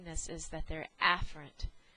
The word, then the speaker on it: afferent: and enunciation so um I am going to say aent so you can distinguish between an incoming command versus eent or efferent which is an outgoing command so your incoming sensory